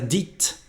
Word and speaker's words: dites: Tu les as dites, and the pronunciation again is different.